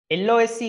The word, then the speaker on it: lose: LOSE loss නෙමෙයි. හොඳට මතක තියාගන්න. මේ වචනේ ගොඩක් අය වරද්දලා loss කියලා කියනවා but you have to pronounce this like lose.